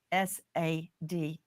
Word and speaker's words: Sade: Justice for Sade, and that is spelled SADE, like you would say Sade, like sage.